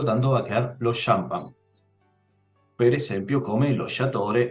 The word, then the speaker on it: champagne: Champagne. Es decir, como si comenzara con una S y una H.